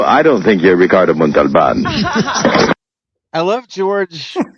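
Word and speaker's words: Montalbán: You know, I don't think you're Ricardo Montalban. I love George phonetically pronouncing Mont with the L. He hit the L, which nobody does.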